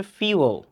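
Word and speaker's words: fuel: এটা তো ফুয়েল কম সো উচ্চারণ কিন্তু ফুয়েল না যদিও এটার লেখা কিন্তু এফ ইউ ই এল ফুয়েল বাট এটার উচ্চারণ হবে ফিউল ফিউ প্রমাণ দিচ্ছিশন অফ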